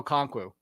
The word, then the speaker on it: Okonkwo: Lauren, spell Chigoziem Okonkwo.